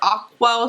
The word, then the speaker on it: Ockwell: She's a YouTuber, and this is called Gentle Discipline by Sarah Oakwell Smith, I think, or Ockwell Smith is how you say her last name.